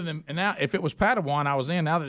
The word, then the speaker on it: Padawan: still like young putt Padawan yeah and we now officially know from the Star Wars people it is three syllables right for some reason